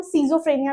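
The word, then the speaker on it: schizophrenia: स्किजोफ्रेनिया। स्किफ्रेनिया जिसको हम सीजोफ्रेनिया भी बोलते हैं। वो आपके प्रोनाउंसिएशन के ऊपर डिपेंड करता है कि आप क्या बोलना चाहते हैं।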